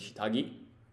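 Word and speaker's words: 下着: So this first kanji, its pronunciation is shita, and the second kanji, it's gi. So together, underwear means shitagi, but that second kanji, its reading is gi in this case.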